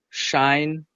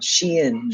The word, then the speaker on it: SHEIN: Shine, fast fashion, and what is really cost. I think it's pronounced Shein. Ah, Shein.